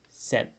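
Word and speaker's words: sept: 7 ans. Et 7 ans, la T se prononce toujours.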